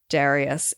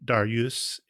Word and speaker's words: Dariush: It seems like a lot of the Persian names are kind of accent on the second syllable. Like Darius is the American version of the name. Darius or Dariush is the Persian version.